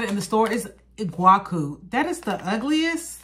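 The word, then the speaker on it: Iguaçu: The guy said it in the store, is Iguacu. That is the ugliest, like, that's how you pronounce this, Iguacu.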